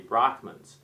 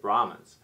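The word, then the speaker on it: Brahmins: the what you called the brockmans uh which is really kind of a mispronunciation of brahans and he talked about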